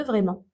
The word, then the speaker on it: vraiment: On ne prononce pas le T de vraiment.